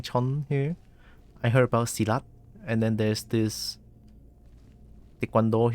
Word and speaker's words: Silat: I just know it's pronounced Silat.